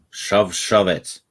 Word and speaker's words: Shavat: Shove it. That's the correct pronunciation.